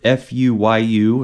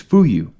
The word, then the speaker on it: Fuyu: way too many like we read the the word f-u-y-u it's all one word like we think it's fuyu but no it's fuyu welcome dear listener to the